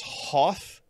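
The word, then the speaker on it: Hoeth: so here is um here is hoth blue but it's spelled h-o-e-t-h so they don't get sued it's like a a like hearth blue but it's meant to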